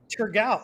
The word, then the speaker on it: Thurgau: It's Muller Thurgau. Thurgau. Oh, it's a T.